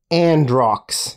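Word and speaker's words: Androux: your question come on androcks is what I would choose I like it a n d r o u x and rocks the U is silent of course yeah the U is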